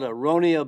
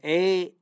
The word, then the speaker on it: aronia: Now, the berry, to me, that stands out as the super berry is called aronia berry. That's spelled A-R-O-N-I-A, aronia.